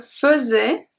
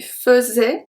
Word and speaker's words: faisais: I don't know if you heard it well, but the AI at the beginning is pronounced fuzz, fuzz. We do not say fait, faisait. Qu'est-ce que tu faisais? We don't say that. We say faisait, faisait.